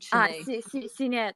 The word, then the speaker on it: Sinead: Sinead, the designer you work with, Sinead Gori, or is it Shanae? Sinead, Sinead.